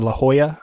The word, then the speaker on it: La Jolla: of the original cast that premiered at the La Jolla, I think it's pronounced, theater.